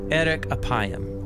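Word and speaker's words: ארך אפים: and way more interesting in hebrew the phrase slow to anger is pronounced erik apayam or literally long of nose but what does god's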